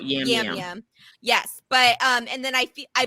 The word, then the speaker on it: Yam: I know they say Jam. Yeah, where did Jam come from? But he said Yam out of his mouth in the tape. So I don't know how they got Jam.